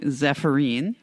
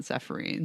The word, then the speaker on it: Zephyrin: The next horse was what we were calling Zephyrine, from owner Jasmine, and they do call her Z if she's being sweet, and Zephyrin apparently is how they pronounce it, not Zephyrine.